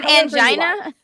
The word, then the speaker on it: angina: it's okay soda called her her heart problems aen or angen we live in a world you can just pronounce things is angina okay you can just pronounce things however you